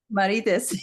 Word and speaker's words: Marites: Marites.